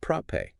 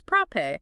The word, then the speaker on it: Propet: tech the comfort and how to pronounce the brand name right yeah it's ProPay it is ProPay but now it's time